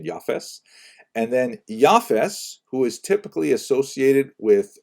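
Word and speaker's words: יפת: uh three sons and I should pronounce that by the way in the Ashkenazi pronunciation the office and then yafes who is typically associated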